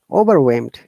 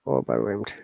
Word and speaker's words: overwhelmed: whimsical uh similarly when overwhelmed okay overwhelmed all right so these are some of the examples of wh sound while age is silent remember to practice it